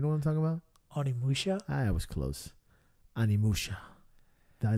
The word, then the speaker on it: Onimusha: Because it looks so much like Amanushua. Shit, am I pronouncing it right? You know what I'm talking about? Onimusha?